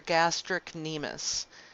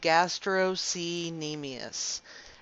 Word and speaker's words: gastrocnemius: gastrocnemius knee meais and what i've heard students do is they say gastro seen amias and because that's not how you actually pronounce it but they they do it like that they do it like that so they can remember there's a sea and gastrocnemius and not call it gastro knee meais on accident so they